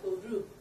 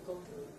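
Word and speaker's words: go to: 때문에 go 투를 붙여요 고투를 루라고 한다 그랬죠 고루 발음을 해서 고루 고루 어디어디에 가니 고루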